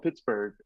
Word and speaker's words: Pittsburg: Yeah, it's a town called Pittsburgh. There's no Mhm. H on the end of it. We don't do silent letters.